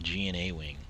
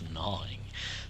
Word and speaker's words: Gnawing: A lot of people would pronounce that G and A wing, and it's gnawing.